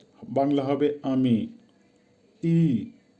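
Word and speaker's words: ты: তি, উচ্চারণ হবে, আবারও বলছি তি, বাংলা হবে তুই অথবা তুমি।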